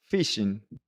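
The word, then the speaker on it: phishing: Entonces, una se llama fishing. Entonces, ahí está escrita con pH porque no es pescar propiamente dicho, pero viene parecido a la palabra en inglés de pescar.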